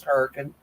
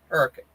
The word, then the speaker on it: Hurricane: It's if you was going to spell it the way I say it, it's Huracan. Hurricane. There is an A. There's an A in there.